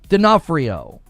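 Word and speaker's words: D'Onofrio: but you don't No, you don't pronounce that one. You just you just jump to the N. Denafhrio.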